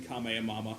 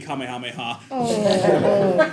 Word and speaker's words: Kamehameha: the the four let's player mispronouncing Kam and Mama I mean Kamehameha God but they would